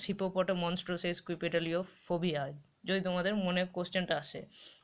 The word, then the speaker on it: Hippopotomonstrosesquippedaliophobia: স্ক্রিনে দেখতে পাচ্ছ একটা বড় ওয়ার্ড, এটা হলো হিপোপটোমনস্ট্রিও সেস্কুইপেডালিওফোবিয়া, ঠিক আছে।